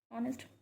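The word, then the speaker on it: honest: क्योंकि एच हमारा क्या है, साइलेंट है, और ऑनेस्ट की आवाज़ क्या आती है, ओ।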